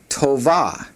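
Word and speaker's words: טובה: The feminine for this word is tova.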